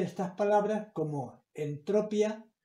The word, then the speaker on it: entropía: Esa palabra se lee entropía. ¿Por qué? Porque lleva tilde.